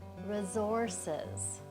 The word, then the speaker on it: resources: Okay, how about resources? In resources, the first syllable is unaccented, so we're kind of reducing or sort of throwing away the vowel sound. So the R-E now sounds like ra, zor-ses.